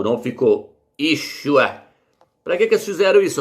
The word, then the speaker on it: Yeshua: Como é que esse nome é pronunciado, meus? Yeshua.